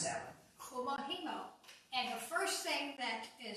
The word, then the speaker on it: Kumihimo: And I'm going to let you pronounce that one. Kumihimo.